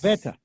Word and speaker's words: Advaita: Advaita. Yes, Advaita. You got it. Yes. Advaita.